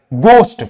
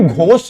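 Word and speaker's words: ghost: तो यहां पे हो जाएगा गोस्ट। इसको हम कभी घोस्ट नहीं पढ़ते हैं।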